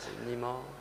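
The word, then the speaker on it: Nima Yushij: Peut-être vous pouvez mieux le prononcer que moi. Oui. C'est Nima.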